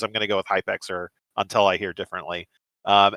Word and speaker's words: Hypxr: It's pronounced Hyper by the way.